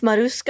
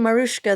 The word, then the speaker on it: Marusa: And it's Marusa. I've been saying Marushka this whole time.